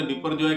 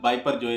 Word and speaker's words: Biparjoy: पाकिस्तान के अंदर बिपरजॉय कहा जाता है और इंडिया के अंदर बाइपरजॉय कहा जाता है।